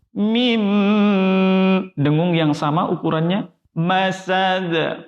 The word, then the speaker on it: مسد: Masad. Qalqalah lagi.